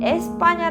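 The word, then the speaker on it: España: 판에 라고도 없는 음 에스빠냐 를 발음해 보면 강세가 뒤에 있기 때문에 앞에 때 부분이 약하게 바른 데요 이가 탈락한 이다 그래서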